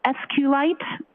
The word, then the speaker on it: SQLite: case I T and sqlite uh is also commonly pronounced as SQ light so both pronunciations are acceptable now once you received